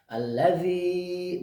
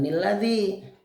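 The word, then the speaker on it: الذي: Jadi di sini ni yang kecil itu dia dibaca, dia berfungsi, tapi dibacanya al ya. Allazi bukan nilladzi.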